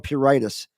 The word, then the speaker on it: pruritus: in regards to the control of pruritus, and that's the correct pronunciation, has a lot to